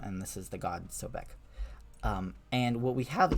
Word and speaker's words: Sobek: this is pronounced um we pronounced this name sobik um and this is the god Sobek um and what we